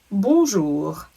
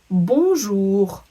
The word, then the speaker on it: bonjour: In the word bonjour, you might notice that you didn't hear the N in the middle, and in fact that little letter group ON makes the sound un.